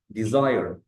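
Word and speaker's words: desire: الكلمه اللي بعدها اسمها ديزاير ديزاير وفي الحاله دي الاس نطقت زين والي نطقت نطقها الطبيعي اي ديزير معناها يرغب في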